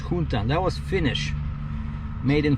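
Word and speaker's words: Juntan: And so that one, Yuntan, it was spelled with a J. J-U-N-T-A-N, but it was pronounced Yuntan.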